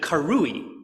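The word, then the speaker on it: קרואי: But right next to it is the way the Masoretes told us to pronounce that word, to pronounce it karui, which means they were called.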